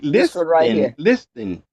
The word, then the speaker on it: listen: L I S t listen. Listen. We We don't We don't We don't pronounce the T.